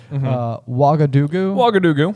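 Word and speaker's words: Ouagadougou: Wagadugu. Okay. Yeah. Real place. Wagadugu is a real place, and actually, the reason I'm pronouncing it correctly is because I looked it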